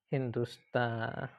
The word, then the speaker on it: Hindustani: Sorry, I pronounced it wrong. It's not sata star. It's a very common sound. Hindustani Hindustani which means Indian.